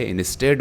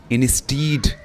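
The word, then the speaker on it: instead: अब यहाँ पे ये जो है इसको बहुत सारे स्टूडेंट इंस्टीड प्रोनाउंस करते हैं, लेकिन ये इंस्टीड नहीं है बल्कि ये इंस्टेड है। इंस्टेड यानी ई और ए जो है वो बराबर है ए की आवाज़, यानी ए की साउंड वो कर रहा है।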